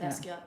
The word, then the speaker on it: Basquiat: Okay, and you know that artist, and I feel embarrassed that I don't know how to pronounce his name. Basquiat? Or is it Basquiat or Basquiat? Basquiat, you said it right.